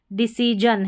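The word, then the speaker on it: decision: यहां पर देखें डिसीजन है। डिसीजन। अब इसको जन पढ़ेंगे क्योंकि जो है यह आई और आई है।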